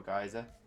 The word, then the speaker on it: geyser: I really do think it depends on whereabouts you're from in the world as to how you pronounce Geyser or Geyser. And so I think I always thought it was Geyser.